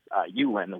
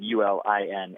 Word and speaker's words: Ulin: common one for people to mispronounce um it's Ulin which is spelled UL i n and it's often mispronounced Ulin or enen oh